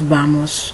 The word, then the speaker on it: vamos: Ellos vamos. No, nosotros vamos. Ellos van. The V is pronounced like a B. So you don't say vamos or boy. You say boy or vamos.